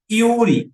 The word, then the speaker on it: Yuri: Yuri, com Y, você escreve uma consoante, mas você pronuncia uma vogal.